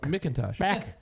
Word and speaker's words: McIntosh: about McIntosh. I didn't watch him. I Ryan- watched him. He is McIntosh. So 9. Kenny McIntosh. Yeah. It's McIntosh. McIntosh. There's no A. I'm sorry. Not MacBook. McIntosh.